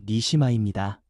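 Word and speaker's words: נשמה: 그리고 생기라는 말은 히브리어 발음으로 니시마입니다.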